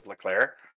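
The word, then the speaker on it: Leclerc: name charles leclair is that what it is leclair yes you'd think after watching four seasons of that i'd be able to pronounce the dude's name but seriously all you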